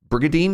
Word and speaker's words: Brigandine: New Castlevania, Brigadine. You just don't pronounce the N.